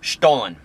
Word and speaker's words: Stollen: So I've got the stollen, guys. And that's how you pronounce it.